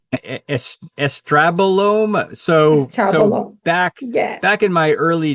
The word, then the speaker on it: estrobolome: Do I pronounce it correct? Estrabolome.